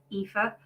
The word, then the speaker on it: epha: not met me before my name is epha that is how you say it that is not how it looks spelled uh say it backwards